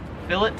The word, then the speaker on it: fillet: Number 17 is filet, or it's filet if you're American. Here in Australia, they pronounce it as fillet, so it is fillet of fish.